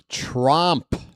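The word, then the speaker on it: Tromp: It's Trump. O rhymes with stomp or romper room.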